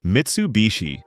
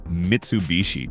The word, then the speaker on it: Mitsubishi: Interestingly, even the name Mitsubishi, ties directly to the design. Mitsu means three, and heii, often pronounced bishi when combined, means water chestnut, a term often used in Japan to describe a diamond shape.